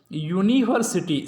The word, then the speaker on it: university: It begins with a vowel, that is U, but the sound is that of a consonant, because when we pronounce this word we start it with like university.